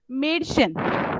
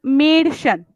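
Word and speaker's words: Mädchen: यूज कर रहे हैं, मेडिशन, मेडिशन मतलब यंग गर्ल। तो उससे हम लोग जब मेडिशन बोलेंगे तो वी are going to pronounce that A उमलाउट एज मेडिशन, नॉट मैडिशन।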